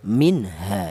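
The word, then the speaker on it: منها: Minha jangan nun mati ini jangan dibaca ikhfa. Apa artinya ikhfa? Ikhfa itu artinya samar. Seperti contoh ini. Minha. Cara bacanya disamarkan tidak boleh ya. Minha tidak boleh. Yang benar dibaca izhar atau dibaca jelas minha.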